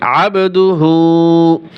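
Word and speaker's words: عَبْدُهُ: এখানে কল করলা হবে আবদুহু আবদুহু আইন বা জবর আব কলকলা করবেন আবদুহু ওয়া রাসুলুহ ওয়া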